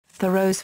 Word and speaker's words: Thoreau: Name pronunciation and physical appearance Amos Bronson Alcott and Thoreau's aunt each wrote that "Thoreau" is pronounced like the word "thorough" (pronounced THUR-oh—/ˈθʌroʊ/—in General American, but more precisely THOR-oh—/ˈθɔːroʊ/—in 19th-century New England).